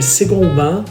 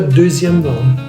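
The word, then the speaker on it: second vin: A pronúncia correta é Second Bain, não diga Deuxième Bain.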